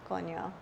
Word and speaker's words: coño: Coño. That's I like how you say it. That's how you say it in Spanish.